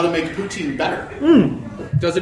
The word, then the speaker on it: poutine: Poutine. Yeah. Oh, poutine. Poutine. The E is silent.